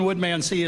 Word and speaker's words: Woodmansee: Because Leland Woodmansee is no longer the president of the club, which rhymes with chimpanzee, for those of you that don't know Leland's rhyming thing.